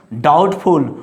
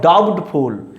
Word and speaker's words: doubtful: Now next, doubtful, not doubtful. Here is B is silent, here is subtlety, here is B is silent.